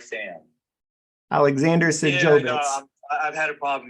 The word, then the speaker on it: Sajovits: Sajovitz. Sajovi. E-S like Sam. Alexander Sajovitz.